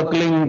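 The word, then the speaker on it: क्लीं: की मात्रा और बिंदी उसका उच्चारण होगा क्लिंग ग ग की ध निकलेगी पीछे आप अंग बोलो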